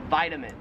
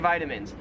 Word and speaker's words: vitamins: I hate it when people pronounce this word this way, and that is vitamins. Like, did you take your vitamins this morning? You know, it's healthy to take your vitamins.